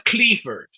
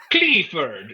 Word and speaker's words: Clifford: But like, okay, so my mom, she can't even say Clifford. She's from the Azores. She says Cleaford. Clifford.